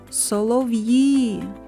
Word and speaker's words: солов'ї: визначимо куди падає наголос покличемо солов'ї солов'ї наголос падає на звук І А зараз Спробуй самостійно